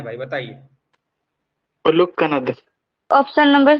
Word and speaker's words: कणाद: सर लिखा हुआ तो उलुग कनद है, आप बोल रहे हैं, प्रोनाउंसिएट कर रहे हैं आप कनाद। मेन कणाद होता है, कनाद। यदि आप स्पेलिंग पढ़ोगे तो KANAD है, कनाद।